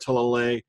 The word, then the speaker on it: Talalay: Like I said, I've heard 2 different pronunciations for her name. I'm sticking with Talalay because that's what Peter Capaldi uses. I've also heard Talalay.